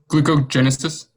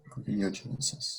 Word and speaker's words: gluconeogenesis: Glucogenesis. Gluconeogenesis. Gluconeogenesis. Gluconeogenesis. I'm sorry. So, okay, the answer is gluconeogenesis. Yeah. What did the judges think about that? It was mispronounced.